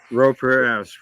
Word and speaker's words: Pereira: Dave, and I'm gonna mess up pronouncing his last name. Pereira. Pereira, correct.